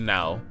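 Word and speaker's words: Nao: One character called Now. She's wait, her name is Now. Yeah. Just now, as in right now. Yeah. Now. Oh. Okay, well it's spelled N-A-O.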